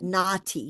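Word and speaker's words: NAATI: We actually call that naughty because there's two A's in the middle. So, it's naughty.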